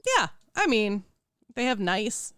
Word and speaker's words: Nice: I mean, they have nice. It's not pronounced nice, but I like to say it as nice, and then I piss people off. I think it's like Nice. It's Nice, yeah.